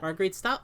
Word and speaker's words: Marguerite Scott: Marguerite Scott. Okay, pronounced exactly how it looks.